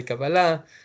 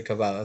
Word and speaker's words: Kabbalah: You're not saying it wrong. It's just like two different ways of saying it. Israelis will say Kabala and Americas will say Kabala. So it's actually right both ways.